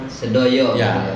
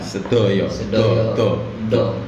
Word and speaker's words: Sedoyo: Sedoyo. Sedoyo. Bukan do. Bung Abu ini orang luar Jawa, jadi nggak bisa ngomong do, misalnya do. Tapi kalau dalam ejaan huruf hijaiyah paham bo.